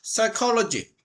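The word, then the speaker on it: psychology: 스탠포드의 사이로지 피가 발음이 안 돼. 무금이야. 무음 발음 안 되는 거.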